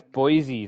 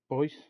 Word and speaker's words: Boise: Yeah, It's Boyce. it's Boise. That's how they pronounce it.